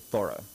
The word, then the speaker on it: Thoreau: the family and uh all pronounced it thorough and so he was born david henry thorough and sometimes it's like thor t-h-o-r the god and sometimes it's more like thorough like you did a thorough job and a lot